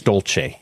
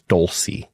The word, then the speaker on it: Dolce: So, that's an Italian name and the pronunciation is Dolce.